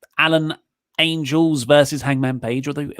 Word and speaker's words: Angels: After that, we got Alan 5 Angles. Angels. Oh. Said it wrong a few times. Was I at least consistently wrong? You said angles every time. Damn it. Angels. More than angle.